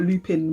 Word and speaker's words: Lupin: It's spelled Lupin, but I'm trying to do the French, you know what I mean? I'm trying to respect the thing.